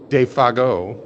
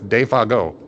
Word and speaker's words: Defago: I was like, how do you pronounce this? And I showed it to her. She's like, that's Defago. I was like, okay. That's nice. We always just said Defago. Defago is how Hank says it.